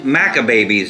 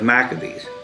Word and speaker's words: Maccabees: friend one time and he kept saying macka babies instead of maccabees macca babies like from